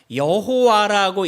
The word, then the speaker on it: 여호와: 그래서 이 모음을 어떻게 찍느냐에 따라서 여호와라고 읽은 사람들이 생겼고 어떻게 모음을 찍느냐에 따라서 야훼라고 부르는 이 이름이 두 가지의 이름으로 이렇게 다르게 부르기 시작합니다. 여호와 또는 야훼.